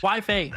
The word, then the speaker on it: Waifei: Waifei, that's how you pronounce it.